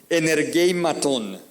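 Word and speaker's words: ἐνεργημάτων: Esta palabra operaciones, mire cómo se dice en griego, energeimaton, donde viene la palabra energía, enérgico.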